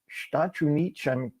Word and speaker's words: Estados Unidos: dos Estados Unidos, and trying to say it like all one word, like a Portuguese, sou dos Estados, and I get all twisted up.